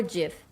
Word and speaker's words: GIF: oh that's fair although it does make more sense to say GIF because it's g-i-f rather than to pronounce the G as a j gif I mean you are